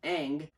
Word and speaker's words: Ng: the title general manager ng pronounced aang becomes the highest ranked